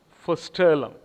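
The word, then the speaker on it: Vorstellung: the original english german term he used was foster the germans pronounce the vsef so it is for sterling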